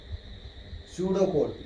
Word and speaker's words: pseudocode: Pseudocode, it starts with P, but P is silent, pseudocode.